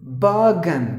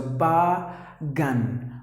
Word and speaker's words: bargain: Bargain. The letter R is silent and the letter I is silent. So bargain.